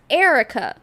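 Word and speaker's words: Earika: I a it says up there, but it's pronounced Erica, but her mom is spelled the same way.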